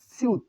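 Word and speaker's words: 시옷: এই বর্ণের উচ্চারণ সিউত, সিউত, সিউত, সিউত, ছ, স, নিচে ত।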